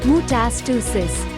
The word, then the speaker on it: metastasis: different tissue or organ this is called metastasis pronounced mutasticism as scary as all this sounds most cancers